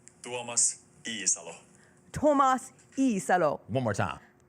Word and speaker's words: Tuomas Iisalo: Let's pronounce his name right. Let's all get it right together. I just re-listened to the voice note that was sent to me from this weekend. Pronunciation guide time. I'll say it, and then I'll play it so that everybody else can hear it too. It's Tuomas Iisalo. Here he is. This is from Tuomas himself.